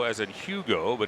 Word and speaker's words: Hugo: Spells his first name H U G O as in Hugo, but it's pronounced Hugo.